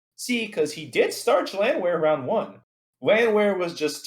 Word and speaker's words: Landwehr: I feel like I'm mispronouncing that name. No, you got it, Landwehr.